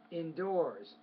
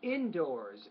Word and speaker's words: indoors: the exam indoors yeah indoors indoors indoors stress on the second syllable I think not the first and it's no longer